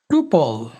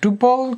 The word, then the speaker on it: tuple: Finally আমাদের চতুর্থ data স্ট্রাকচারটি হচ্ছে টুপল। TUPLE। ওকে, এইটার উচ্চারণ কেউ কেউ বলে টুপল, কেউ কেউ বলে টাপল।